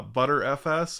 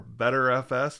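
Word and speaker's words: Btrfs: the issues with uh butter fs or better fs depending on which side of the fence you fall on for pronunciation and a lot of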